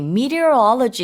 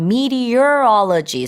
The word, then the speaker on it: meteorology: this was according to Morocco's meteorology agency right meteorology it's very difficult to pronounce um and it's spelled meteorology so me e t e o r o